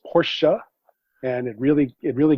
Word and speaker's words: Porsche: than that though because having an e by itself on the end of something is not pronounced in english ever that's right i will